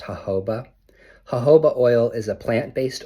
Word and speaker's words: jojoba: It's pronounced jojoba.